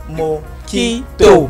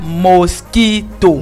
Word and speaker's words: mojito: Mojito. Pas mosquito. Non. Voilà. Toi, tu as bien prononcé, hein, qui dit mojito. Voilà. Il y en a même ici. Ça s'écrit mojito. Exactement, M-O-J-I-T-O. Mais ça se lit mojito.